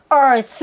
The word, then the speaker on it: earth: 자, 뒤에 있는 th는요.이 사이에 혀가 살포이 나오면 돼요. 이때 이렇게 소리 내려고 하실 필요가 없고요. 이렇게 소리를 내잖아요. 그러면 남은 숨이 있어요. 그 남은 숨으로 뒤에 있는를 처리하는 거예요. Earth 이렇게 두 개의 소리를내는게 아니라 earth. 그냥 혀를이 사이에 넣었어요. 그리고 소리를 이렇게 내려고 한게 아니라 earth 하고서 남은 숨으로 그냥 처리한다라고 생각하시면 돼요.